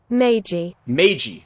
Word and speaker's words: Meiji: meije restoration how do i is there a pronunciation meiji okay meiji so yeah the meiji restoration which